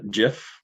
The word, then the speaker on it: GIF: the gif or gif gif how do you pronounce gif uh jif jiff yeah that's how i pronounce it not